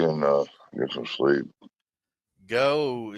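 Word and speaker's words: Geaux: uh get some sleep go is that spelled g e a x how they spell it down there LS you talk about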